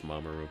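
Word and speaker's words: Mamoru: sure the door's open I know how to pronounce mamaRoo because of uh because of Sailor Moon okay Tanaka came into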